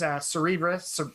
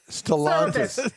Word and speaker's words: Stellantis: I guess nowadays, Cerebras, I can't remember how you say it. Stellantis, Cerebras, Stellantis, Andy.